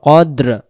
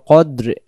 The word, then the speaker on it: قدر: যদি পড়ি তাহলে এখানে এই কব অক্ষরটার পরিবর্তে এখানে কাফ অক্ষর উচ্চারণ হবে এই জায়গায় যদি আমরা